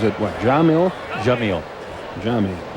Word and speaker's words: Yamil: Jamil. Jamil. Even though it's spelled with a Y.